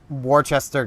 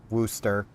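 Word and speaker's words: Worcester: back when you know Worchester got nerfed down to or woster it's spelled Worchester when woster got nerfed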